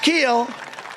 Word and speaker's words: Kuehl: Steve Keel It's pronounced Keel, but it's spelled Kuehl.